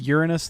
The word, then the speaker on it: Uranus: Isn't it pronounced Uranus, though, not Uranus?